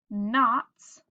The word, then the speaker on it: knots: Then we have some of our silent letter words. We have knocks, we have knots, and night, and there's night again.